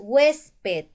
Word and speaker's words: huésped: te das cuenta bien el siguiente ejemplo es huésped entonces mayor fuerza de voz penúltima sílaba si tiene la mayor